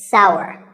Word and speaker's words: sour: some people say sar that is a mispronunciation the only correct way to say this word is sour many words in the